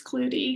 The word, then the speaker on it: Klute: My maiden name is spelled Klute. How would you pronounce that? Clute? A lot of people say clue. It's Clutie because you say the E as well.